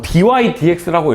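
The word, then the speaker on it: dy/dx: 어 그 y x 어 dydx라고 읽어. dydx. dy dx 이거 이제 dx분 dy라고 읽으면 찐다야. 찐다.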